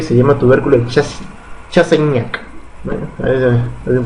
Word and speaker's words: Chassaignac: Muy bien, se pronuncia Chassaignac.